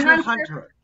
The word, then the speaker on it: Hunter x Hunter: The X is silent. Really? Hunter. Hunter.